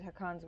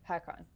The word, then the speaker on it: Hakkon: weapons that have tasted hakan's winter sorry hakon I've been pronouncing it hakan and apparently that's not correct we have Furs and